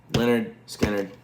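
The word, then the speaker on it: Lynyrd Skynyrd: if you have not heard Lin Leonard Skannard pronounced Leonard Skannard.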